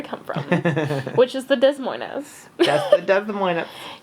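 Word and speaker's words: Des Moines: from which is the Des Mo that's the Des Mo you pronounce it de Mo okay every musician or band that come here say thanks for having us Des Moes yeah I know we're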